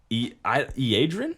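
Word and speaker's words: Iyanden: Is it Iadrin? Iandin? No, Is there it's an R a in there? Y. It's Iaydren.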